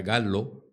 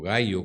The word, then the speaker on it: Gallo: el famoso vino marca galo o gallo como quieran pronunciarlo está hecho básicamente por